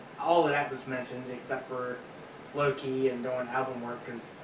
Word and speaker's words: Lo Key: I will say that he does pronounce it like Loki it's l o space k-e-y located at one point